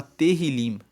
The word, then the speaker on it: Tehillim: Tanto que o livro de Salmos, no hebraico, ele se chama Tehillim. Se escreve T-E-H-I-L-I-M.